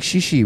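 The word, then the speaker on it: chichi: I think shishi more from, I think Fiji, you know, where the thing is spelled C-H-I-C-H-I, but pronounced shishi, shishi.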